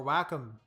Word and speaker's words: Wacom: oh oh wcom or wack I think they pronounce it wack at at the company wack um I always